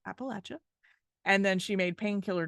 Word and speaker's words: Appalachia: issues she said it in Appalachia it is pronounced Appalachia and then she made painkiller drugs one of